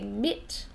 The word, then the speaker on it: MIT: When we say this, we don't say MIT, we say MIT. So we say, I go to MIT, and you pronounce it M-I-T.